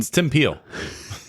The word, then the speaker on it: Tim Peel: the former NHL official whose name rhymes with shim heel um Tim peel it's pretty easy to